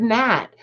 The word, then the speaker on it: gnat: Like the word gnat. Why does it even have a G there? You don't need it.